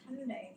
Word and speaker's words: Hyundai: It's The Y is silent. It's Hyundai.